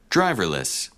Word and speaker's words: driverless: Driverless. Driverless. Driverless. So it is on the first syllable, driverless.